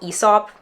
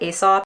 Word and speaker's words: Aesop: been obsessed with soaps I think it's called ESOP actually but people pronounce it Aesop but those soaps are